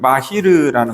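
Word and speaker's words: מהיר: 여기서 능통한이라는 히브리어 발음은 마히르라는 건데 이 속도와 깊이가 동시에 있는 전문가다.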